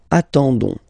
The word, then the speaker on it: attendons: Okay, you don't pronounce the s, so you get only this on sound. Okay, attendons, nous attendons, so we'll make the link between the two, la liaison.